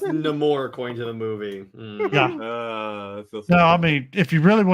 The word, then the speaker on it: Namor: wait what what about Nam more yeah it's pronounced namore according to the movie no I mean if